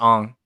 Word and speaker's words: Aang: It's just A-N-G, but it's pronounced Ong.